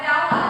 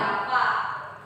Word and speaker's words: Java: Bahasa Inggris Jawa. Bukan Jawa, Java.